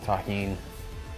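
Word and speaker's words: Tajín: knows the deliciousness of Tajin that's how you pronounce this it's delicious with the addition of the tahin this corn was actually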